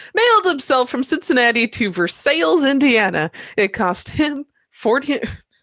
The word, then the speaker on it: Versailles: for going to uh versailles indiana or versailles if you want to pronounce it correctly we're going with right